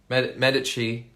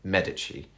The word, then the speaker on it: Medici: this month i think medici season three or if you're in if you don't know the italian pronunciation medici medici you probably call it um but yeah the